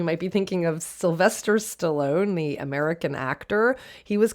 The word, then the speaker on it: stallone: because stallone or it would have been pronounced stallone in italian is italian for stallion